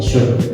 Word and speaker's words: should: rumus yaitu would and should. Sebelum kita lanjut kepada pembahasan rumus, untuk pronounce-nya teman-teman bisa membaca teman-teman tidak perlu membaca L-nya, jadi langsung aja would and should.